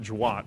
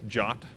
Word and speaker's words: JWT: the standard it says how you're supposed to pronounce it it's not Jawad it's jot and the way you read this thing is